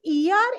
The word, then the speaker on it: er: have to learn it this ER is pronounced like the English word a i r how do we pronounce